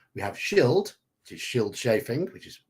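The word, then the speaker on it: Scyld Scefing: That is the correct spelling of Shield Sheffing. Or sorry, Shield Chafing. It's chafing. So our options here. Who was Hrothgar's grandfather? We have Shield, which is Shield Chafing, which is how Manfred's put it down there.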